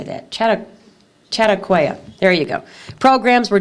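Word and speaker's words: Chautauqua: um Chad how do you say that chatt chatauqua there you go programs were done for adults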